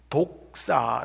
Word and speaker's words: doxa: 잖아요 그런데 영광 이란 단어의 헬라어 가 영어 스펠링을 함은 doxa 독사 라고 합니다 독사 이 독사 라고 하는 단어는